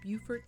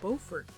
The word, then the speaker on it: Beaufort: A couple of examples for this word is the town of Beaufort, South Carolina, which is pronounced with the long U sound, as in the word beautiful, while the town of Beaufort, North Carolina, is pronounced